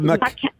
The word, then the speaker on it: macaque: The macaque. Macaque? And, and if you Google Japanese Japanese macaque? Yes, and they actually work as waiters in a Japanese restaurant. And macaques can work as waiters, huh?